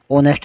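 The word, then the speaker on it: honest: अब यहाँ पे ऑनेस्ट है, इसका उच्चारण है, लिखा होनेस्ट जाता है लेकिन बोला ऑनेस्ट जाता है, तो इसलिए एन लगेगा।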